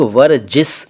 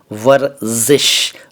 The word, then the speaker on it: वर्ज़िश: इसको कई लोग वर्जिस या वर्जिश कहते हैं। ये दोनों ही उच्चारण गलत हैं। सही उच्चारण है, जैसा कि मैंने पहले कहा, वर्जिश, ज ज ज जिश, वर्जिश।